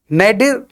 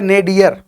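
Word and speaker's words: nadir: नेडिर या नेडियर, ये दोनों सही हैं। आप गूगल पे देखेंगे तो नेडिर, नेडियर, ये भी सही है, और नेडिर ये भी सही है, और इसका मतलब होता है अधो बिंदु।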